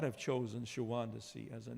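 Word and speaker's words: Shawondasee: But I think Longfellow would have pronounced it Shawandasee, not Shawandasee, because it goes better with fat and lazy.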